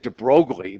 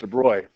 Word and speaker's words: de Broglie: a wave well de bro it looks like de brogly but it's pronounced de Bry about 80 years ago or so came up